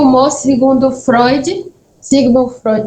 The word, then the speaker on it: Freud: E acontece depois o humor, que o humor, segundo Freud, Sigmund Freud, é assim que se pronuncia?